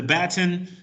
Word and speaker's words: Bataan: It's Bataan.